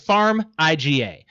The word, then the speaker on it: Farmiga: I tried to pronounce it. It's Farmiga.